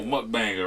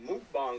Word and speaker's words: mukbang: Oh, and I think it's pronounced mukbang or something. I heard somebody else say it on one of the little food reviewers, and they called it like mukbang or something. They pronounced it completely different than we did.